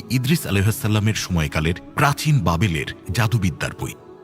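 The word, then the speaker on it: بابل: প্রাচীন ব্যাবিলনে আগমন করেছিলেন আরবি উচ্চারণ বাবিল ইরাকের রাজধানী বাগদাদ থেকে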